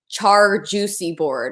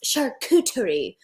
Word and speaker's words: charcuterie: girl was like because i purposely pronounced it char juicy board or something like i did that on purpose because it's sarcasm there are people in the comments being like it's pronounced charcuterie in the french language and i was like